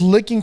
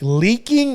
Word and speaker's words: leaking: leaking leaking yeah there see you said it right even even when we're